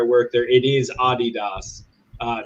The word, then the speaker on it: Adidas: work there it is Adidas uh because I also speak German but in American English we all stupidly say Adidas you also say Legos